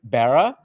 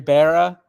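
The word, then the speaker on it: Barra: If you remember we had Mary Barah and Bob Marley side by side as two global leaders that we had selected Mary Barah or Bar depending on how you want to pronounce it.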